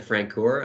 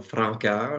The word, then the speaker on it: Francoeur: most of the time I just default to francor I I do have a French background so Franca is the right way to say my last name but most people struggle